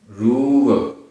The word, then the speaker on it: रूव: जह जाय रूव, रा में बड़े ऊ की मात्रा है, रूव सरिसो।